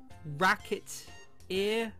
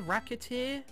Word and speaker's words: Recettear: Shouting Out ho reer mispronounce it even slightly and reer Racket ear racket ear racketeer I get it this